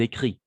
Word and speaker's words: écrivent: écrivons vous écrivez ils écrivent tout simplement écrit parce que ent on ne prononce jamais d'accord voilà tout simplement